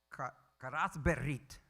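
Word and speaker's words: כרת ברית: Berit, karat berit is how you say it in Hebrew, is to cut a covenant.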